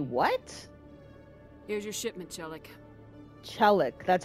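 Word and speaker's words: Chellick: Chellic, that's how you say his name.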